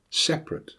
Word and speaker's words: separate: You may have heard these words pronounced: different, chocolate, camera, separate. They are all words that should have 3 syllables, but have been reduced to 2 by dropping the schwa.